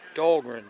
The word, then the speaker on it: Dahlgren: got looking on my phone pronounce this right dahlgren backpack campground they got showers over there bathrooms hot water showers that's nice right on the uh it's dahlgren d-a-h-l-g-r-e-n mile marker one zero four three point